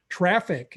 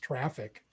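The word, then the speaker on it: Traefik: where it i believe it's pronounced traffic even though it isn't spelled like that and this is a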